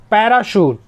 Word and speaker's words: parachute: PARACHUTE, पैराशूट, पैराशूट मतलब हवाई छतरी। दोस्तों इस तरह पढ़ने से आपको स्पेलिंग भी करेक्ट होते जा रहा है।